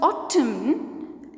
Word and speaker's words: autumn: In the word autumn, N is silent.